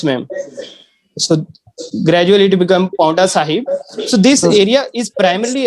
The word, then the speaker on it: Paonta Sahib: How would you pronounce that? Paonta Sahib.